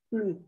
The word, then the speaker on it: plus: La superioridad va a ser así, le, la, le, plus, más adjetivo. Y acá la S no se pronuncia, ¿eh? De plus.